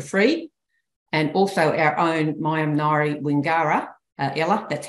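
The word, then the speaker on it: Maiam nayri Wingara: And also our own Mayam Nari Wingara, Ella, that's how you say it, is our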